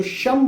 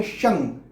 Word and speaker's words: शं: तो फिर मैं कहता हूं कि न का उच्चारण कर लेना, लेकिन म का उच्चारण बिल्कुल ना करना। जो शम बोलते हैं ना, म बिल्कुल मत लगाओ, न लगा लें चलेगा लेकिन म बिल्कुल मत लगाओ। और सबसे सटीक तो जो है वो है शंग, जो अंगूर वाला बताया, ओम शं शनिश्चराय नमः।